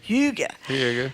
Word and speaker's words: hygge: Hygge.